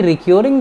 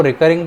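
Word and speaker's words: recurring: अच्छा, ये रिक्योरिंग जो है ना, कुछ प्रोनाउंसिएशन फ़र्क आता है, कुछ लोग इसको रिकरिंग पढ़ते हैं, कुछ लोग इसको रिक्योरिंग पढ़ते हैं।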